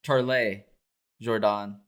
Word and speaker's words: Charles Jourdain: Now, Charles Jourdain or Charles Jourdain. Mm-hmm. Everybody pronounces it differently. That's another name where everybody was pronouncing it differently. I think it's just Jourdain.